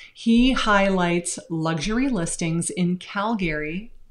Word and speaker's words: Calgary: He highlights luxury listings in Calgary. Apparently it's not pronounced Calgary, it's pronounced Calgary in Canada.